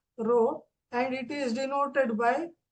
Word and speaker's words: rho: Okay, rho anta ee symbol ide, idke pronounced as rho, and it is denoted by coulomb per meter cube.